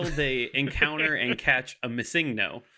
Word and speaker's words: Missingno: I know that it is Missingno, but you would say it as one word.